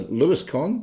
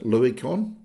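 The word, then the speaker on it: St. Louiscon: now the um yeah the Hugo awards were presented at the 27th World science fiction convention sir lewiscon or Louis con depending on how you want to pronounce it um it was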